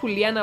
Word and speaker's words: Juliana: Oye, I'm about to say Juliana because that's how you fucking pronounce it in Spanish.